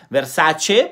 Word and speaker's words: Versace: yo soy italiano y se dice versace porque pues nosotros las letras la pronunciamos como vienen las letras no es que la